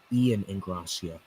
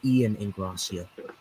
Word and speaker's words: Ian Ingracia: And by the way, my name is Ian Ingracia. Ian Ingracia. Ian Correct. Ingracia. Correct. Ian Ingracia. I gotta study that. I'm glad Yeah. you pronounced it right. Yeah, it's Ian Ingracia. Ian Ingracia. I figured it started with an I. Yeah. I know it kind of looks like an L, but it's really an I.